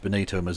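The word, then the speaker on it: Benito: the party that descends from the party of Bonito musolini yeah I'm sure they're going to have a really good policy on on a irregular migration it's pronounced Bonito Mill Bonito okay too funny it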